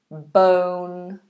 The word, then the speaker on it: bone: is born bone Bor Bone born let's have a look at that bone o bone bone bone like the bones in your body born to come into